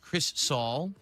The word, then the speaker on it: Crizzle: It's pronounced Chris Saul.